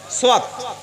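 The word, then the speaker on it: صاد: এখানে জোরে বলেন সাদ। আবার এই সাদটার উচ্চারণ সিনের মতো হবে না।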